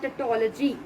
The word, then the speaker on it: tautology: New word we have T A U T O L O G Y, tautology. How to pronounce this word?